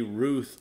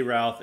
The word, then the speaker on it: Routh: it, due to America, it can be Ruth or Routh. But most of the newscasters were saying Routh. We're going to say Routh.